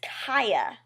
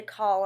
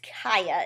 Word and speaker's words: Cia: name is really weird I wanted to call her CA I don't know why I felt like that just rolled off the tongue better but it's Kaa is I think how she pronounces it and Kaa is